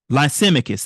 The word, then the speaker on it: Lysimachus: I just pronounced this word. Now I can't get it right. Lysimachus. That's it.